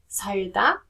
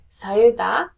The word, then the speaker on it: 살다: When you're saying 살다 or 살, then that rear sounds more like an L sound, right? But if you're saying 살아요, it sounds more towards the R sound.